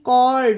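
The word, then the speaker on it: chord: mechanic और यह है सी एच ओ आर डी कॉल्ड यहां पर स्टार्टिंग में ही सीच है फिर भी एच का प्रोनाउंस नहीं किया गया उसी तरह से लास्ट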